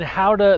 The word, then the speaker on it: Gouda: here for the counter-attack we're on location in how to the Netherlands it is spelled like Goethe the cheese but pronounced outta here by locals it's the Olympic qualification tournament